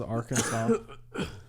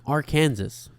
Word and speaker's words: Arkansas: It is strictly prohibited to pronounce Arkansas incorrectly. Per the state code, the only acceptable pronunciation is in 3 syllables. with the final S silent, the A in each